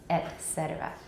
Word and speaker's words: et cetera: and then say cetera et cetera et cetera okay etc etc etc are pronounced with the glottal stop at the beginning of the vowel okay i say ah